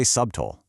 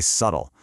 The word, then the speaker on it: subtle: We don't say subtol, we say subtle.